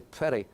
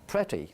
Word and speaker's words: pretty: way but I suppose the pronunciation of pretty a pretty girl is a prairie Prairie with a prairie I must confess excuse